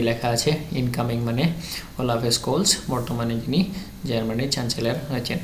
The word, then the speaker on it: Scholz: আচ্ছা এখানে স্কুলস থেকে দেখো স্কুলস জেড জেডটাকে অনেক সময় জির মতো প্রোনাউন্সিয়েশন করে কিন্তু আমরা এটাকে মনে রাখতে পারি।